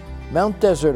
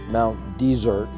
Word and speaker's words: Mount Desert: to get used to many locals pronounce Mount Desert in the French fashion while others pronounce in the English manner of the noun desert we have stayed